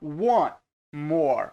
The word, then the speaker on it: want: E um detalhe aqui é que quando você vai pronunciar want, nem sempre você pronuncia esse T aqui no final da palavra. Você pode falar só I want more. Então esse T é como se ele fosse mudo. Aí você fala want more.